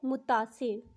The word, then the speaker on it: متاثر: ان دونوں میں سے درست تلفظ کون سا ہے؟ متاثر، متاثر؟ جی ہاں، اس کی درست ادائیگی ہے متاثر، سبز رنگ میں جو